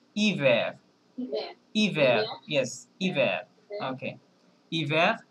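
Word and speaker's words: hiver: মনে করেন আমরা যদি আমরা যেটা বলছি যে h এর আসলে প্রোনান্সিয়েশন এখানে সাইলেন্ট হ্যাঁ তাহলে আমরা i থেকে প্রোনান্সিয়েশন করলে কি হবে ইভার বলেন ইভার ইভার ইয়েস ইভার ওকে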